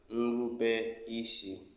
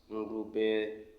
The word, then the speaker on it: Nrubeisi: And in Igbo, obedience is Nrubeisi. Say after me, Nrubeisi. That's how it's being pronounced. Nrubeisi.